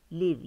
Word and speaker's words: live: Yaşam, live, yaşamak. Yalnız telaffuzunuza dikkat edin. Live, yaşamak fiil anlamında sıfat olarak live yani canlı.